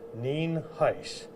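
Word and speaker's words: Nienhuis: I'm Hernando County Sheriff ninis it is spelled n i n h i s and it is pronounced nen Heist um first of all I want to lay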